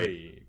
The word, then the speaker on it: Marine: But it's not It's pronounced that way. Marine.